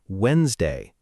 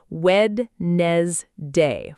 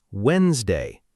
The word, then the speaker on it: Wednesday: letter in the word Wednesday. Many learners think it should sound like Wed-nes-day, following the spelling exactly. But actually, native speakers say Wednesday, completely dropping that middle D sound.